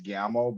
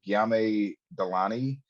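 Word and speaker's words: Guillaume Delaunay: Sofia La Puerta, and I'm gonna mispronounce this because I keep wanting to say it's Giamo, but it's not. It's Giame Delani, who plays this beast man.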